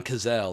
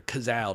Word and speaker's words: Cazale: door to legends like John Cazale or Cazale, depending upon how New Yorker you want to be in your pronunciation of his name.